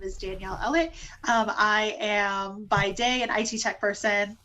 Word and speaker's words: Ellett: So, just to make sure we're pronouncing your name right, is it Danyelle Ellett? Ellett. Ellett. Ellen.